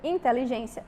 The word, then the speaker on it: inteligência: dúvida nós temos aqui Inteligência é uma palavra aqui paroxítona certo e diálogos nós temos uma palavra proparoxítona então inteligência inteligência aqui a sílaba tônica é a penúltima já em diálogos nós